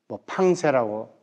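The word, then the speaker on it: Pensées: 그리고 유명한 영적 명상에서 빵세를 선불입니다 팡세라고 발음하기도 하죠 거기서 이분은 많은 말을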